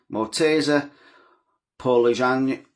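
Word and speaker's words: Morteza Pouraliganji: Mortasa Paul Jang, that's how you say it.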